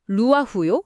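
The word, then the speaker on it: רוח: 루아 발음부터가 약간 입술 사이로 강한 바람을 훅하고 불어넣는 것 같은 소리네요.이 단어가 성경의 다른 곳에서는 구체적으로 어떻게 쓰였는지 궁금해요.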